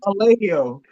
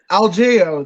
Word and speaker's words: Algeo: And I said Bill Alejo. I try to make him Algeo. That's how you pronounce it.